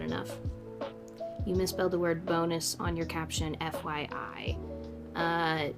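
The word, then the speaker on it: Bounous: Um, I don't think it's pronounced that way traditionally. I think it's French. Um, so it might be like bonu. I don't speak French. I never took a French class, so I could be wrong, but I pronounce it bonus.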